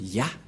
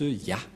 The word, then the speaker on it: Yah: Cette forme se prononce Ya. Voilà ce que nous avons vu tout à l'heure. Cette forme se prononce Ya, que vous venons de lire.